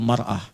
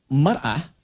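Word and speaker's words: مرأة: Ya, kalimatnya sama, cuma cara bacanya beda. Al-mar'atu kal mir'ah. Yang satu pakai fathah, yang satu pakai kasrah.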